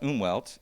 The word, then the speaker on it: Umwelt: And there's this term called, I think it's pronounced Umwelt. It's based on a German word, I believe.